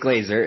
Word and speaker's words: Glaser: about you sure um Glazer is how you say my name uh thanks for having